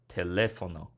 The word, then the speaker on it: teléfono: on the le, so accent mark on that syllable.